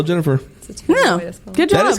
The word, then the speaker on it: Ginnifer: That is Jennifer Goodwin. But it's spelled Ginnifer. Yeah, but still Jennifer.